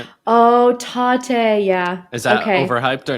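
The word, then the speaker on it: Tatte: Oh, Tate, yeah.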